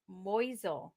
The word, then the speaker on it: Moisel: right jeff really moisel it's german moisel moisel moisel what i've